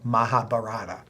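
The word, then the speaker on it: Mahabharata: India there's a epic called the Maha bar sometimes pronounced the mahab barata It's relatively thick and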